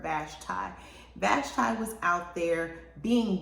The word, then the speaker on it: Vashti: off his wife vashtai i think some people pronounce it vashti i preferred vashtai vashtai was out there